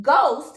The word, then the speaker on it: ghost: First, when it comes at the beginning of a word, it has the sound of G. The H is silent or quiet. Ghost is one word that starts with GH.